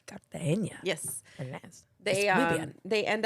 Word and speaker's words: Cartagena: Very nicely pronounced. Cartagena. Cartagena.